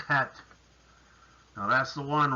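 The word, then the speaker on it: חית: And it is a het. So it's a little bit back in the throat.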